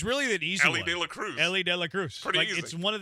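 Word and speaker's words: Elly De La Cruz: it's not that tough It's really an easy Ellie De La Cruz Ellie De La Cruz pry easy it's one of the easiest names to pronunciate Ellie DEA Cruz yeah that's a Worthy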